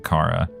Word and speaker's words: Chara: ghost that's good and this is Cara right that's how you're supposed to say it like character K yeah yeah all right